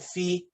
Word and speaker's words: phi: the other two letters how do you say phi you put an e sound in it you call it fee i've heard fee but i say phi those who say phi i'm in your side